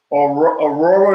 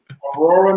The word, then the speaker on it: Aurora: Aurora, North Carolina. Am I saying it right? That's where you're from? Yeah, that's it. Aurora, North Carolina.